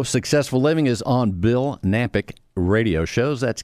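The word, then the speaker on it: Knapik: living is on Bill nampyk radio shows that's K and API K the K is silent I don't know why it's silent but it is bill nampyk radio shows many shows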